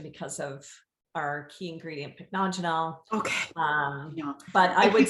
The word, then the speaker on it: Pycnogenol: overall blood circulation because of our key ingredient, pycnogenol. But I would say saying overall, it. Sorry to interrupt. Pycnogenol.